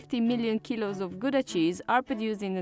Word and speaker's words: Gouda: this one behind me depending on whether you're native you will pronounce it either GAA or Kaa so since we're talking about authentic Dutch cheese we're going to call it Howa the cheese takes its